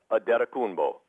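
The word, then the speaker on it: Antetokounmpo: ano stuff in there if you just break it down to the the Nigerian pronunciation the way he says it it is Giannis adeta kumbo adeta kumbo yep like aeta kumbo oh well that doesn't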